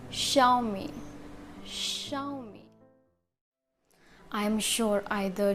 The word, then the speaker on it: Xiaomi: Xiaomi, you can think because of its spelling, but it's wrong. The correct pronunciation of this is Xiaomi.